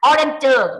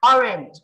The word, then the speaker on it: orange: หนึ่ง ประการ เจอะ เจอ แต่ ว่า เรา ไม่ ออก เจอร์ นะ ออเรนเจอ ไม่ ใช่ นะ คะ Orange Orange Orange นะ ฮะ อาบ คน